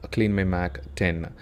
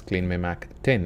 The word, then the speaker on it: CleanMyMac X: In this video, I like to give my honest review of CleanMyMac 10. It is actually 10, it is not X.